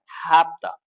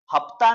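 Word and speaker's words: hafta: Construction है, यानी कि हैव और टू को शॉर्ट में हम बोल सकते हैं हैप्ता, हैप्ता, हैप्ता, हैप्ता। हफ्ता नहीं बोलना, गलत हो जाएगा, हैप्ता, है पढ़ना, है पता, है पता, हैप्ता।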